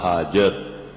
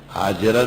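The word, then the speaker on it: هاجر: اور بخاری ترمذی مسلم میں 50 جگہ موجود ہے اخدمہا حاجر، کہ ظالم بادشاہ نے حضرت ابراہیم علیہ السلام کو حاجر دی. حاجر تلفظ صحیح کر لو اپنا، حاجرہ نہیں کہا کرو.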